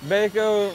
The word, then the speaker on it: Baco: Baco rhymes with homo.